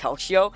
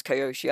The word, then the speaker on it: Kyoshi: I've never heard it pronounced that way. That is the most British way to pronounce Kyoshi I've ever heard. Koshi's Japanese. Or at least he thinks he is. Kyoshi is actually a Japanese name.